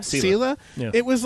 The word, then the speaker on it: Selah: I forget how to pronounce. Selah. Selah.